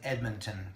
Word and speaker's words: Edmonton: By the way, Jeff's a Kung Fu stylist and lives in Edmonton, Canada.